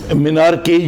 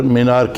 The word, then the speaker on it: menarche: So if a young girl doesn't get her first menses, which is known as menarche, it's pronounced as menarche. Generally you people call menarche. No, menarche.